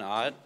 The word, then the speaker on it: Ott: I'm Ott. A lot of people mispronounced it.